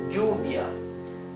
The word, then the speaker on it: lluvia: Double L, the sound changes. No matter if it's at the beginning of a word or in the middle. Double L has a sound G, right? Like lluvia. G, U, V, I, A. Lluvia. Calle.